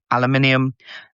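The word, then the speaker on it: aluminium: Aluminum, that's how you pronounce it, regardless what the Yanks say, is uh five big resistance at 3,546.50.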